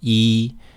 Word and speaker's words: 一: pronounce the Chinese character Yi meaning one as you know the word for one is e spelled y i with a first tone e e however this first term